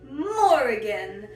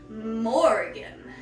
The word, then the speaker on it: Morrigan: Morrigan. It's like the easy name Morgan, but there's more of it. Morrigan.